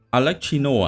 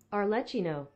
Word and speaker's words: Arlecchino: Mình hay gọi là Alexino nhưng mà không rõ là cái phát âm chính xác của nó là sẽ là như nào. Thử xem nhá. Viết thế nào ta? Alexino. À, có chữ R. Arlecchino. Cái gì?